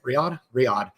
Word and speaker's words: Riyadh: Riyadh.